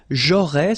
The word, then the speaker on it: j'aurais: J'aurais, so final S, not pronounced, j'aurais.